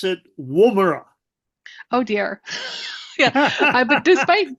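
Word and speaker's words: Woomera: uh really interesting because it landed in the wera test range in uh in Australia do you know about that one brandan yes um and also we pronounce it WRA oh dear yeah but despite being Australian and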